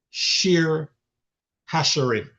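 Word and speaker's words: שיר השירים: song of Solomon comes is the Hebrew sheer hasherim. And I'm going to spell that two words sh h i r and h a s h i r i m.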